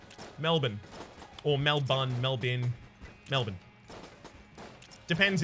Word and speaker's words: Melbourne: Bourne Identity right but we pronounce it mal bu n Melbourne Oh Melvin Melvin Melvin